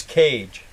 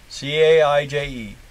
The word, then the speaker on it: Cage: His name is Cage. Caije. Like, put that dog in a cage. That's how you pronounce it, but that's not how he chose to spell it.